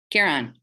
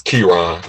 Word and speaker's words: Kiran: cooking those until tender kieran and sorry if i'm not pronouncing your name correctly you close enough it's kiran okay got it now